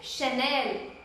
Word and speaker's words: Chanel: The CH is sha. You have to pronounce it as sha, which is Chanel, Chanel.